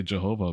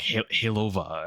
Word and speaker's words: Jehovah: Like I mean like I know you're trying to say Jehovah, but it said like Hova.